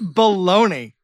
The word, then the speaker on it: Bologna: Joseph Bologna. Uh-huh. I even went I made sure I was pronouncing it right.